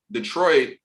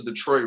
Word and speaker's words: Detroit: And fun fact, Gabriel, I don't know if you know, the Detroit French, I think it's pronounced Detroit.